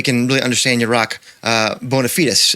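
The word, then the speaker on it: bona fides: really understand your rock bonafides, if I can pronounce it that way. That's the European way, Paul, I'm told.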